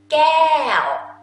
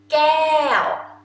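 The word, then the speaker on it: แก้ว: Gael. Gael.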